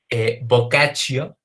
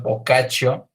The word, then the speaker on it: Boccaccio: De Giovanni Boccaccio, que la verdad es que no sé precisamente por qué le decimos Boccaccio, si en teoría sería Boccaccio, pero bueno, al parecer ahí hay alguna excepción a las normas de pronunciación del italiano, pero bueno, Giovanni Boccaccio, el Decamerón.